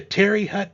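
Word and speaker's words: Terre Haute: team this year the the Terry Hut Regional I believe it's pronounced if there's someone that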